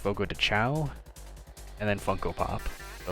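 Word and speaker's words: Fogo de Chão: So, we got Joe Mousashi, we have Five Guys, we have Menches, I believe this is pronounced Fogo Dow, and then Funko Pop.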